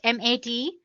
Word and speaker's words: MATE: the mate desktop environment let me pronounce it m80 you can call it whatever you want mate or mate desktop environment so as you can